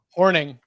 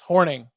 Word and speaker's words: Hornung: Paul Hornung was an all-time low though. Horning. Yes, Horning. Got it.